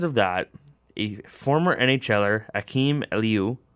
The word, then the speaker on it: Akim Aliu: Because of that, a former NHLer, Akim Aliu, which I believe is how you pronounce his name, that's how I've heard it, accused Calgary Flames